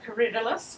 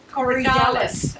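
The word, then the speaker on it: Corydalis: front of it is coridalus which just self seeds that's how you say it well when i first started gardening i said correct alice and then i went to an um a nursery and they said oh you're being ridiculous so i had to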